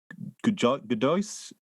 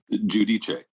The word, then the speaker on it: Giudice: He was on last year to do his book, and then I always pronounce his name wrong. Christian Godois? Giudice.